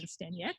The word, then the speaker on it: Staniec: Even though it's Staniec. pronounced, it's Yeah. spelled. If we were in Poland, Yeah. which is where my, namesake is from, it would actually be pronounced Staniec.